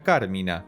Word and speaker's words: Carmina: La forma correcta de pronunciarla sería Carmina, con tilde en la primera A.